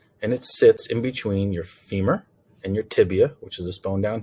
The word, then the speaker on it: tibia: have the fibula okay remember it's tibia and fibula remember to spell those correctly if you spell it tibula or phibia it's wrong okay so it's fibula and tibia okay and then the